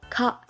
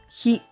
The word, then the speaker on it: 火: The Japanese pronunciations for Tuesday are ka and hi.